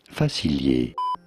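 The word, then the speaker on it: Facilier: Disney movie for reference in French it is said as Doctor fail the shadow man himself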